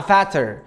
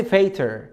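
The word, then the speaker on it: fatter: فلما باجي ازود الاي ار بحط التي عشان احافظ على النطق وتطلع فاتر. لان انت لو قلت لي فات كده تمام وحطيت لي اي ار على طول مش هتتنطق فاتر، هتنطق فيتر.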